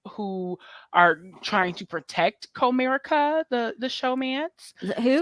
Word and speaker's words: Comerica: are trying to protect Comerica, the showmance. Who? So Comerica, not it's Comerica like the bank.